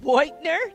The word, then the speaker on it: Beutner: But I think it's Beutner. Did I say that right? That's the proper German pronunciation, yes.